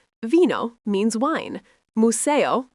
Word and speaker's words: museo: Museo, phát âm là moo-SAY-oh, nghĩa là bảo tàng.